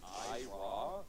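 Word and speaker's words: Eyerah: Shadow 20Z going out early to a player, I don't know even how to pronounce this name. It's Ira, E-Y-E-R-A-H.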